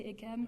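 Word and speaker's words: Eyquem: How do you pronounce that, Bob? Do you say Ekem? I say Ekem.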